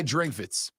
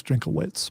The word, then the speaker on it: Drinkwitz: by Missouri coach Eli Drinkwitz. Eli Drinkwitz was talking about it's Drinkowitz, by the way, I believe. The classic German pronunciation.